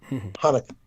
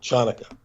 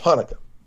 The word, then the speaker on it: Hanukkah: silent because you know if you know the word hanukkah spelled ch the c is silent hanukkah some people will mispronounce it chanukah who've never heard of